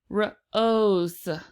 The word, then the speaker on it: rose: B for an S the e is still silent the O is still along o sound let's try this again Rose rose rose rose rose